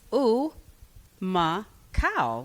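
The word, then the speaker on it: Humacao: And he named the five places, but um stuck out cuz I said, "How do you say that?" And he says, "Ooh, ma cow." Like a cow.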